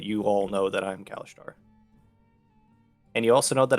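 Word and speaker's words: Kalashtar: How do you pronounce that? I'm sorry, Perry. Kalishtar. Kalishtar.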